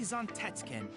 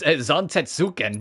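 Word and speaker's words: Zantetsuken: With his mighty Zantkin, this master of the That is not how you pronounce that, Chadley. What do you What do you mean? It's Zantuken.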